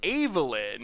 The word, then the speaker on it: Evelyn: But the correct way to say it is Evelyn.